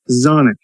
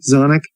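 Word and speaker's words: Xonic: Super Beat Zonic. I guess it's pronounced Zonic. It's with an X. X O N I C.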